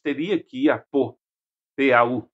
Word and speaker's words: Pau: P-A-U se escreve, se fala Pau, em francês.